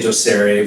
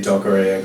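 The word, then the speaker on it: docere: the sign many times well it's a Latin word so I think you can pronounce however you want we say doere but people say doare but I've heard everything I was thinking it was like Spanish it's d o c e r e do yeah it's the Latin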